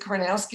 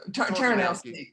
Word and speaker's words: Tarnowski: David is it Karnowski? Am I saying it right? Tarnowski.